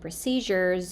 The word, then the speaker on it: procedures: say recent procedures procedures the word is not pronounced procedures we don't use the z sound for the D U the z sound is used with words like measure treasure pleasure Vision Division and usual these words have the z sound but procedures has a different sound we use the